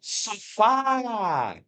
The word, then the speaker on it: sofá: A sílaba tônica é a última, assim como a palavra sofá.